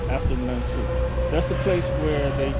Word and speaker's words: Assin Manso: uh uh ason men I think I said that right yeah as uh Asin menu you can Google it it's spelled uh a s s i n m e NS o as Manu that's the place where